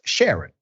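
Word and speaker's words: Charon: a r o n is pronounced Sharon like with the S unless you're French thank you for the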